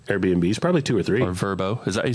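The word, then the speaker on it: Vrbo: probably two or three verbo is that you say it vrb yeah verbo okay vacation rental by owner verbo and that's how they pronounce it in the commercials right so uh this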